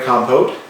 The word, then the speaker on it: compote: Strawberry compote. How do you say compote?